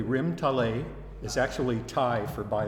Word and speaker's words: Rim Talay: of all I want to thank you for pronouncing the name correctly rim tal a is actually tie for by the sea okay